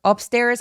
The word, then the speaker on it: upstairs: 그래서 윗집이 쿵쿵거리며 돌아다녔다라고 할 때 my upstairs neighbor upstairs 할 때 맨 마지막 s는 꼭 넣어 주셔야 돼요.